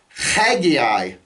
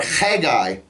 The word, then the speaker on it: Haggai: another Old Testament prophet, Haggai. Okay, or Haggai. It begins with a chet. The word Chag is the Hebrew word for holiday. And you put a yod on the end, it's my holiday, Haggai.